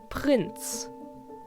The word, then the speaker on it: Prinz: Prinz obviously means prince and is pronounced in almost the exact same way, other than, again, the R. Prince, and in German, Prinz.